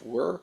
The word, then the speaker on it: wyr: very uncommon known as it's spelled wyr it's pronounced were he's actually a descendant